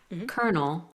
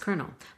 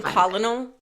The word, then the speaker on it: colonel: And the reason for that is because English speakers adapted the Italian spelling and the French pronunciation.